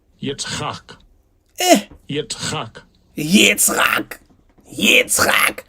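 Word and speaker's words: יצחק: Right, so let's go and look up the name Isaac in the biblical Hebrew, and in the Yiddish pronunciation they will say Strong's H, 3327. Yitzchak.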